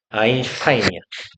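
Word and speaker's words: Einstein: 독일어는 이 아이가 붙어 있으면 이게 아이로 읽거든. 아, 여기가 이게 아이야. 이것도 아이고 독일어에서 st가 붙어 있으면 슈트라고 읽어. 처럼 보이네. 이게 슈트로 발음 나거든. 아인슈타인이야.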